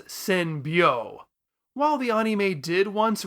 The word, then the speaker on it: Senbyou: resulting in him calling what should have been pronounced senbo as Seno quite frankly I can't